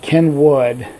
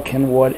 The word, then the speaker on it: Cynwyd: It's Bala is B-A-L-A, which is kind of obvious, but Kenwood is spelled C-Y-N-W-Y-D. It's a Welsh thing, but it's the town of Bala Kenwood.